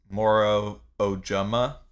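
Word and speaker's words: Moro Ojomo: Booker yeah okay so what I saw from the pronunciation guide is it's Moro ojama so we'll see how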